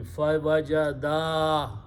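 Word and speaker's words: فَوَجَدَا: they were going back, again, pronounce properly. Fawajada. Stretch it a little bit, otherwise you will change the meaning here. This alif is for two people.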